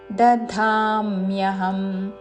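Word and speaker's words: దధామ్యహం: అన్ ఉచ్చారణ తస్మిన్ గర్భన్ ద ధామ్యహం ముందు అల్ప ప్రాణ ద తర్వాత మహాప్రాణ ధా ద ధామ్యహం తస్మిన్ గర్భన్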